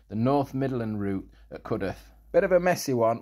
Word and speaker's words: Cudworth: But yeah, so it's Cudworth, it's not Cudworth.